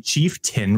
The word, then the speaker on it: chieftain: ascendency in my guide I would say chief tain because that's how I was spelt but it's actually chieftain and I feel like